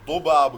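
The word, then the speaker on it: ضباب: فوگ، ذباب دھند فوگ، اس کو Arabic میں اصل تلفظ میں ذباب کہا جاتا ہے، لیکن آپ اردو والے ذباب بھی کہہ دو گے تو کوئی مسئلہ نہیں، لیکن نہیں کہنا تو زیادہ بہتر ہوگا، آپ ذباب ہی بولیں۔ ندا شبنم، ندا شبنم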